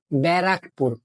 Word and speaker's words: ব্যারাকপুর: ওটা ব্যারাকপুর না, ওটা ব্যারাকপুর, ব্যারাকপুর।